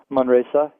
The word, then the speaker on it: Manresa: Tobias Winwright, he's an associate professor of theological ethics, Department of Theological Studies, and director of the, is it Manresa? Is that how you say it? Manresa, yeah.